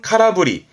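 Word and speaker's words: 空振り: 공짜 했었죠 빌 공짜 비었다는 건 카라 그래서 발음은 카라브리 카라브리 허공을 흔든 거잖아요 야구할 때 헛스윙하는 겁니다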